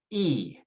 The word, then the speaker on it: y: And then the letter Y is pronounced E.